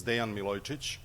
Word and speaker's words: Dejan Milojicic: thank you sorl um a slightly better pronunciation of my name is Dean Milotic um and I work